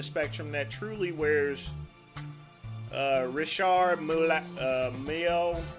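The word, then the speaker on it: Richard Mille: And then you got the other side of the spectrum that truly wears uh Rishard Mio or I call him Richard Mile, but I know it's pronounced differently.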